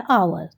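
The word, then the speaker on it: hour: लेकिन यहां एल H silent होता है। और साउंड क्या आता है हमारे पास? आर या आवर।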